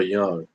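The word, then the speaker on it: Jung: another gentleman called Carl Young and it's not spelled with the Y it's spelled j u n g and it's pronounced young that guy there is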